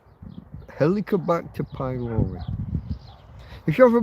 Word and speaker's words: Helicobacter: by a bacteria called Helicobacter pylori. If you go to your doctor and you said the helicopter bacteria, he'll know what you mean. You're saying it wrong, but fuck, he'll know what you mean.